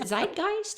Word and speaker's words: zeitgeist: and just see if we can get it out there into the Is it zeitgeist?